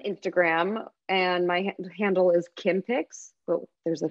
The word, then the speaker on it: Kimberly: with a B so everyone thinks it's Kim B picks it's not it's Kim picks but the B is silent like lamb or climb you can tell I've